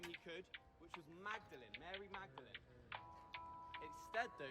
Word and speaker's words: Magdalene: he could, which was Magdalene, Mary Magdalene. Instead, though, he used the Latin pronunciation, which is Magdalene, and has the word Audley, his name, right in the middle.